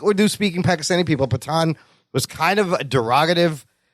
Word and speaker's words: Pathaan: It's pronounced Pathaan.